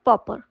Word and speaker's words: pauper: ए यू पी ई आर और इसे हम प्रोनाउंस करते हैं पॉपर इसका यूज हम एज अ नाउन यानी संज्ञा